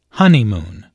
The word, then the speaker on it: honeymoon: does look absolutely beautiful listen to the stress on honeymoon there are three syllables in honeymoon with a stress on the first syllable honeymoon this content word is